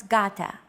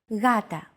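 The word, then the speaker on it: γάτα: word Gata meaning cat this is usually romanized with an initial G letter but it is no pronounce Gata the first consonant is softer Gata watching contemporary videos such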